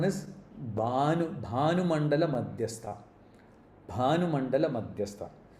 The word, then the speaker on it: Bhanu: Bhanu Mandala Madhyastha. The stress is on Bha, not Bhanu.